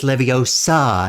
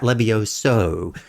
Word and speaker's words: Leviosa: It's Leviosa, not Levioso.